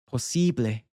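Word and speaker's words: posible: Now, to say it in Spanish would be possibly.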